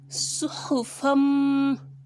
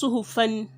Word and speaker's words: صحفا: Suhufam. Suhufam. It's not just suhufan, but suhufam. We are pronouncing the meme, the first part of the meme there, because of the shadda on it.